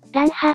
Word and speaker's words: 乱破: の組み合わせですね名前はランハと読むようですすごい現身の